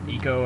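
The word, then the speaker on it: Ico: to pronounce it like I'm pretty sure the people who what the hell the people who develop the game probably know and I think they pronounce it Eco I'll have to ask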